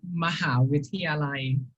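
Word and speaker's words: มหาวิทยาลัย: So in Thai we pronounce it as Mahavidyalai.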